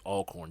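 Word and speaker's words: Alcorn: like some you know alorn state or I guess all corn state is the way it's supposed to be pronounced it probably would be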